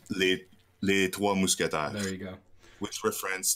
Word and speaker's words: Les Trois Mousquetaires: Yeah, and then the last brewery is the Three Musketeers, or what's the French pronunciation of Three Musketeers? Les Trois Mousquetaires.